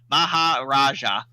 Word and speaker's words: Maharaja: Lash uh mahaj I hate pronouncing this word Mahar Raja there we go I always because so this